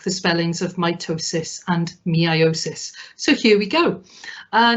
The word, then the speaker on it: meiosis: already have seen that i've started the slide by saying say meiosis to help with the spelling and as much as i can i will actually pronounce it as meiosis because it really will help you get these spellings right in tests because the